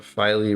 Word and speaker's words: Filey: this channel is that the filey rhymes with Riley yes Andrew Butler that